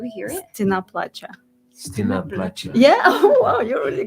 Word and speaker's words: Стена плача: Stina Placha.